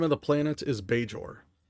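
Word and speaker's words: Bajor: Uh, the name of the planet is Beor.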